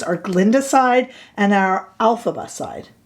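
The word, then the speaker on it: Elphaba: our two blushes our Glenda side and our alphaba side alphaba there I said it right that time didn't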